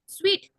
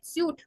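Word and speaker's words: suite: थोड़ा हार्ड है and after that earth cupboard स्वीट अब ये जो होता है जैसे हम बोलते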